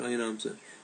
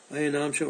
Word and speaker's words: ayanamsha: called the ayanamsha then some people spell it ayanamsa and pronounce it ayanamsa so you get two pronunciations and spellings ayanamsha or ayanamsa is the